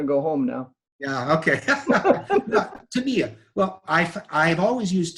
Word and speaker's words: Tamiya: for 12 15 years always used uh tamiya tamaya tamiya how do you say it john tamia tamiya and from what i understand from my japanese press tamiya is correct oh boy okay i'm